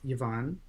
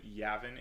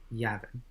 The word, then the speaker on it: Yavin: a deity known as yvonne um uh just a quick correction yavin is the pronunciation yavin a deity named yavin